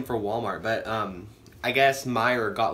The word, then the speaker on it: Meijer: to the store called Meijer it's like spelled like mei ke are like my juror but like admirer so um they have